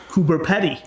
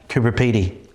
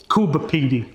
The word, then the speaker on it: Coober Pedy: Well, if you want to be really Aussie, you can say Kubi. Kuba Pedi.